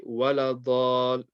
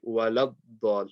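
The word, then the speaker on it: ولا الضالين: You can't say waladall. You have to say waladdal. You have to join the lam to the dad.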